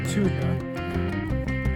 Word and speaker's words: Thuja: Enthusiast welcome to Green CRS the fire chief Tua that's how you pronounce it this uh is a dwarf variety